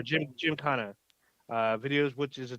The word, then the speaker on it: Gymkhana: he has numerous uh I believe it's pronounced genkana videos Jim Kahana or Gymkhana uh videos which is